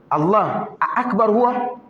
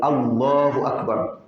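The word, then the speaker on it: الله أكبر: est-il le plus grand Allah AKB c'est pas bon il faut bien dire il faut bien prononcer Allah Akbar maintenant il y a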